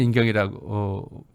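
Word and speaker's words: 人定: 한자는 인경이라고 우리말로 인경이라고 읽는데 한자는 인정이라고 써요.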